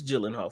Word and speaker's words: Gyllenhaal: brother yeah y okay yeah so it's it's Gyllenhaal for sure but it's starring um Jake Gyllenhaal